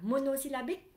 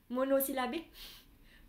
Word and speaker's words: monosyllabique: Không phải là monosyllabic. Monosyllabique. Monosyllabique. Monosyllabique.